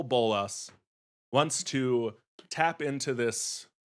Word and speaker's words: Bolas: So Bolas is the emphasis, and when I shorten it, I'll be referring to him as Bolas, not appreciate Nicole.